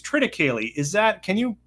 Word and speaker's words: triticale: And then this one, I always pronounce it, I think it's triticale. Is that, can you correct me on how I say triticale? Is that Yeah, what this grain? triticale is absolutely perfect.